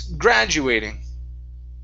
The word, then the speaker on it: graduating: The stress is at the very beginning. Instead of graduating, it's graduating. Graduating.